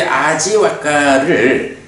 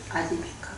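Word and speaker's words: Ājīvaka: 근데 요 이제 아지와까를 아지비카. 그러니까 그 부위를 네. 우리는 그 와라고 읽는데 그거를 이제 그 비읍으로 읽는 뭐 그런 사람들도 많이 있고 그래요. 뭐 발음이 이제 거의 중간 발음 정도 되나 봐요.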